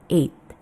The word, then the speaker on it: eight: Jadi akhirnya seperti seperti itu ya bukan santai aja g-nya dihilangkan aja itu silent langsung kita menyebutnya eight cukup depan dan akhirnya saja eight.